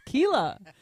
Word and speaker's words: Keela: He said it right for the first time. He keeps calling her by her wrong name. Every time he does that, I go, no, it's Keela.